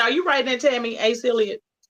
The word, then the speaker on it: Asa Hilliard: Asa Hilliard. Asa, A-S-A, Hilliard, just like it sounds.